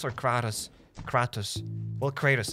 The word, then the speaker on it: Kratos: I never knew how to pronounce the dude name. Is it Kratos or Kratos? Kratos.